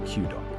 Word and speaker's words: Q-Dog: And just for clarity for everyone listening, Q is pronounced exactly like the letter Q, so Q dog.